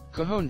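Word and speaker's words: Cajón: It's not Cajun, is it? Cajon drum. Cajon. That'll do.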